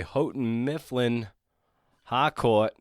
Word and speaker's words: Houghton Mifflin Harcourt: It is published by Houghton Mifflin Harcourt. That's how we pronounce it.